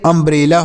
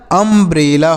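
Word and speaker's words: umbrella: रहे हैं ना कि अगर किसी शब्द के शुरू में यू का प्रयोग हो तो उसका उच्चारण अ के रूप में होता है छोटा अ के रूप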